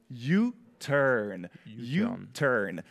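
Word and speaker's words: U-turn: nous donne le mot you turn ça veut dire demi-tour alors youturn est-ce que tu peux bien le prononcer à mucho 8h avec le R de l'anglais de l'anglais américain YouTube très bien j'espère que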